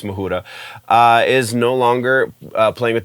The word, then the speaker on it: Majura: guitar player uh jen mahura i'm assuming that's how you pronounce her name could be majura but i'm pretty sure it's muhura is no longer playing